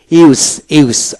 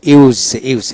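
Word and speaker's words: use: এখন আসেন ইউতে ইউ উচ্চারিত হয়, যেমন ইউজ ইউজ, আবার ইউজ ইউজ। এটা দুইটা উচ্চারণ, একটা হলো জ উচ্চারিত হলে ভার্ব ব্যবহার হবে, ভার্ব হবে, আর যদি ইউজ দন্তস হয় নাউন হবে।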